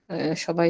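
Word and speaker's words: ث: কিভাবে উচ্চারণটা করছো তুমি ওই যে জিহবার আগা উপরের দুইটা দাঁতের সঙ্গে লাগিয়ে উচ্চারণ করতেছি আমি ওকে সোহেল ভাই আপনি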